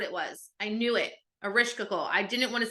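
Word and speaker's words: Ereshkigal: Erishkigal.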